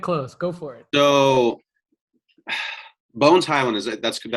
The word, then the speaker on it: Bones Hyland: So Bones Hyland, that's how you say it correctly?